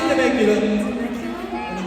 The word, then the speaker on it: Temecula: Temecula.